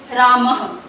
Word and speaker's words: रामः: ये ह के उच्चारण से बोला जाता है। जैसे रामः बोलेंगे रामः और लिखेंगे ऐसे रामः। तो ये सिर्फ प्रोनाउंसिएशन है, उच्चारण है विसर्गों का ह।